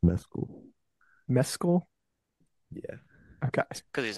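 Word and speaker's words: Mescal: I go to try to pronounce it I pronounce it a different I used to think it was mcal and then I heard him say his own name and it's pronounced mcul mesul yeah okay because he's Irish right so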